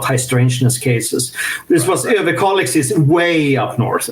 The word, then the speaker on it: Överkalix: So Överkalix, and you pronounced the name very good, actually. Överkalix, excellent, yeah.